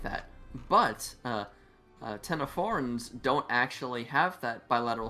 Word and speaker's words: Ctenophora: They're actually part of their own unique branch of the animal kingdom called Ctenophora, spelled with the silent C, C-T-E-N-O, phora.